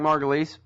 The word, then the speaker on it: Margolis: on the line with Eric margulies spell it like Margolis for the website Eric